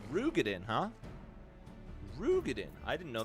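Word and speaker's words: Roegadyn: The fact I didn't learn until recently, the Ro in Rogadin is pronounced Ru. Oh, it's Rugadin, huh? Rugadin. I didn't know that either. But most folks say Ro anyways. Rogadin rolls off the tongue for sure.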